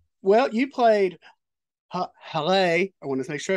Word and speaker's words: Haleh: Well, you played Haleh. I want to make sure I said it correct because I know during the series that was brought up in the series that it had to be pronounced Haleh.